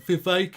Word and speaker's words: Vivek: So we've got Vivek. It rhymes with snake.